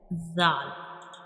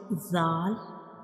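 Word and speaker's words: ذال: And when we pronounce zal, we will touch the tip of tongue to the edges of upper two front teeth.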